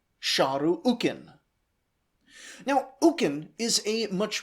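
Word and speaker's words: Šarru-ukīn: And every other time we hear that his name should be pronounced shahu ukin.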